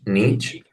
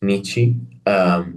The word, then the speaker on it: Nietzsche: How know you pronounce it in English? Nietzsche. Nietzsche. Nietzsche.